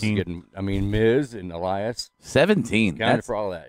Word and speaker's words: Elias: I like how Rob can finally say it right. He called him Alias for a while. Alias.